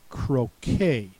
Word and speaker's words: croquet: the first word is cro spelled with the e t at the end and the t is silent so ET says a